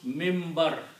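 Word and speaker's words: منبر: This is the way you write. Min bar. But you pronounce it Mimbar. So this noon you pronounce as a mim.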